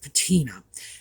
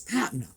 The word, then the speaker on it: patina: And that's a term you will occasionally hear pronounced patina. And I'm right, they're wrong. Now, actually, both pronunciations these days are acceptable, but the actual official pronunciation is patina. And I can forgive people who get it wrong because, as I say, it's become acceptable, like many vocabulary mistakes. Eventually, repetition brings them into the dictionary.